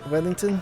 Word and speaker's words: Wethington: Am I pronouncing it right? Wethington?